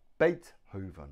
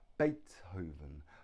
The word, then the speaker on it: Beethoven: look at his name Beethoven one two three Beethoven Beethoven now the stress is on the first syllable Beethoven has Beethoven three